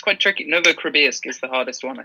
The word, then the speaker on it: Novokribirsk: And they were like, it is Novokribirsk. And I was like, Novokribirsk.